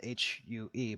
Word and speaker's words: Hue: And he went to Hue, which is spelled H-U-E, but pronounced Hue.